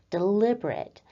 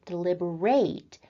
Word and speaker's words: deliberate: look familiar to you you probably already know the word deliberate as an adjective where we have the emphasis on the second syllable deliberate but for this class on verbs we're looking at the verb form of the word deliberate where we put